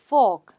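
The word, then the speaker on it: fork: अब यह क्या है फॉक फॉक र साइलेंट है फॉक स्पून और नाइफ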